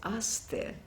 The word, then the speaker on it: Aster: Then she said, but I'm giving it to you as a French name, which is Aster. And she made me pronounce it after her because I didn't know the pronunciation.